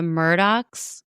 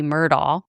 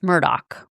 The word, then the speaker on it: Murdaugh: think it would be Murdall, it's actually pronounced Murdaugh. Like with a k on the end.